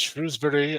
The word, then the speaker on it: Shrewsbury: And that is the proper way to say those, is Shrewsbury and Shropshire.